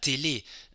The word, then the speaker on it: télé: and the accent aigu, it actually tells you how to pronounce the E above which it is a very closed sound. It's a bit like the French, like the English word bed. It's actually la télé.